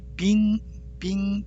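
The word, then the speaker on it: 兵: 병사병, 빙 발음돼요. 중국어로는.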